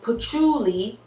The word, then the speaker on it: patchouli: pronounce this plant correctly okay so it is pronounced patchouli and it's a herb with smellings it smells